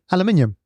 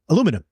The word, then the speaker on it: aluminium: I think it's fine like aluminium aluminum aluminium aluminum you're missing out some letters hippopotamus hippopotamus hey how